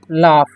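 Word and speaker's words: laugh: ही क्या पढ़ेंगे ही लाफ इसे पढ़ेंगे हम लाफ ठीक है क्यों पढ़ेंगे लाफ क्योंकि जीस जो य पर साइलेंट है ठीक है यानी उसका गन मान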